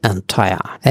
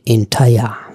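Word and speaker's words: entire: আমরা অনেক সময় বলি এন্টায়ার, এন্টায়ার উচ্চারণটা একটু আলাদা, এটা হবে এন্টায়ার।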